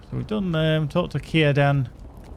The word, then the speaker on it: Círdan: So we've done talk to Círdan, which is spelt with a C, but it's pronounced with a K. Isn't that right, Lewis? There's Círdan.